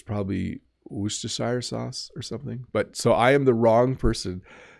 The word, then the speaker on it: Worcestershire: I say Worcestershire sauce, but I think it's Worcestershire in the UK. We just say it wrong in our house. Most North American English speakers just totally mess up the word Worcestershire sauce. Like, even that's wrong, but that's what we call it, Worcestershire sauce.